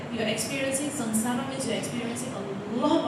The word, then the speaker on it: samsara: So sanssara if you actually look at it the correct way of pronouncing it is samsara sanssara s what and